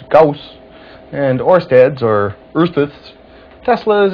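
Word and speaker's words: Gauss: Well, there's Goss, which my encyclopedia pronounces Gaus, and Orsteads or Earths,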